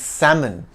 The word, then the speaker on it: salmon: often floundering as salmon let's reel it in it's salmon with an invisible L as silent as a fish beneath the water's surface the word salmon swims